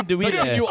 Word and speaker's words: andouille: Andouille. Andouille. Andouille. Andouille. I will give you points for that. Can you Andouille.